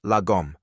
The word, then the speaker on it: Lagom: Swedish, Lagom, pronounced Lagom.